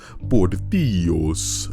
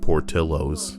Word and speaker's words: Portillo's: So how the hell would I know to pronounce it Portillo's? Well, I don't think it's American, but that's just how some people pronounce it up north. So instead of saying it Portillos, they say Portillo's.